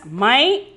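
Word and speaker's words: मैं: We have to pronounce it as my. N is silent.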